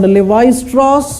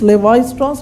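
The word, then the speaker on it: Lévi-Strauss: Structuralism, there is this name called Levi-Strauss. You wear the jeans, Levi-Strauss, Levi's jeans, you know?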